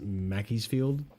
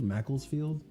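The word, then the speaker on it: Macclesfield: Like Crystal Palace obviously didn't win against Mackey'sfield. Is that how is that how you say it? Mackey'sfield. Macklesfield.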